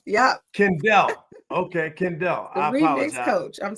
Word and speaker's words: Kendell: learn a little bit about yes and it's pronounced kendel yep Kendell okay Kendell iiz coach I'm so excited I had you back though did I did I get that right kendelle yes okay so it perfect perfect perfect so